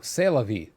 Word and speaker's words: C'est la vie: says lovey oh no C'est La Vie C'est La Vie there you go sorry you don't pronounce the T there you go there